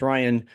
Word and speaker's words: Rijon: Rijon is pronounced Ryan.